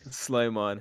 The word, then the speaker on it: Sleimon: Um, and our guest this week is Sleimon. Sleimon. How do you pronounce it? Sleimon.